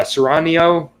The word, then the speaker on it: Cerranio: bob uh sorry nino uh ceranio that's how you say it bobby cerranio the third